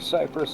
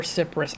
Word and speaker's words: cypress: Or Cyprus. I've always called it cyprus cuz it looks like it. It's It's the name of a type of tree.